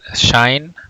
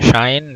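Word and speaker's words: sinh: So instead of hyperbolic sine, so you can pronounce it as shine. Well, it's easier, shine.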